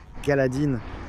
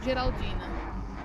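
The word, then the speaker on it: Geraldine: Je pense que je le prononce correctement. Galadine. Géraldine.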